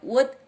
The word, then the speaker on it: would: Ini dibacanya would rather. L-nya tidak dibaca ya, jadi would rather.